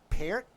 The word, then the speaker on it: Peart: Because I've over the years talked to so many drummers, and they're like, no, it's Peart.